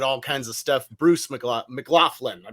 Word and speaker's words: McLaughlin: Bruce McLaughlin. I pronounced that correctly, right?